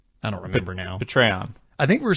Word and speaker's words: Patreon: It's not Patreon, it's Patreon. Pay rhymes with hey.